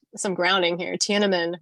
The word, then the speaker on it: Tiananmen: Tiananmen, right?